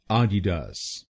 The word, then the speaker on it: Adidas: दूसरे शब्दांश को यानी डी आई हम बोलेंगे डी। और आखिरी शब्दांश को यानी डी ए एस हम बोलेंगे डास। तो बनेगा आडिडास।